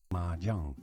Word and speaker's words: mahjong: Pronunciation mahjong. Mahjong. English pronunciation mahjong. So the English pronounce it mahjong, and Mandarin pronounces it mahjong.